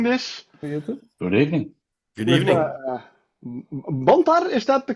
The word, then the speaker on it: Bantar: Bantar, is that the correct way to say it? Yeah. Okay, Bantar.